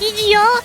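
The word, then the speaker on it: E.G.O: I pronounce it the way that it is spelled, which is EGO.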